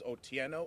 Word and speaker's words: Otieno: v o that's pronounced I vote the r is silent Ivo last name is otieno OT i e n o o tieno okay